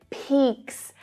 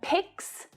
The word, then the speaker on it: picks: short e sound so try to focus on the short e and avoid the long e sound it's not peaks and sticks but picks and sticks okay if you need